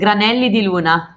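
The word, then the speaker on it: Granelli di Luna: and then using the granelli am i pronouncing that right de luna yes granelli de luna granelli de luna it sounds like a breakfast formally like granola i think about food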